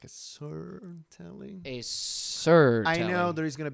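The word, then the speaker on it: Suhr: this thing is yes so sir which is spelled su h y su and lit up I can't think su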